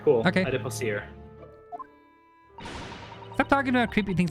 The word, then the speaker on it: adipocere: How do you pronounce that? To Google. Adipocere. Adipocere. Okay, cool. I was right. All right, cool. Okay. Adipocere.